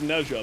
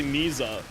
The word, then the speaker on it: Nezha: No, I know how Neza is pronounced. It's pronounced Nezha, but I'm going to say Na because out of spite.